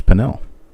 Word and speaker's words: Pannell: So it looks like panel, right? Well, it's not panel, it's Pannell.